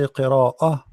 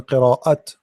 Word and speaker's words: qira'ah: And how come here when I say qira'ah, it's as if you are saying ha. Simply it's a light t, light. Later we will teach you about this rules too. So qira'ah, I'm not saying qira'at.